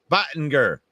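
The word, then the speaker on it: Boettger: Lions sign offensive guard Ike Bottinger. Boatger. Steve told me how to say it yesterday, and I like this guy.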